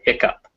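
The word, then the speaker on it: hiccough: sometimes hear it spelled hiccup uh it looks like hit cough but it's pronounced hiccup and uh also you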